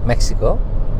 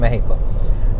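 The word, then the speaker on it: México: তো কি ওয়েস্টে একদিন থেকে তারপর আবার বোটে উঠলাম, আবার রাতে গেলাম কাজুমেল, নিউ মেক্সিকো না, কাজুমেল, মেক্সিকো, আসলে উচ্চারণ হবে মেহিকো।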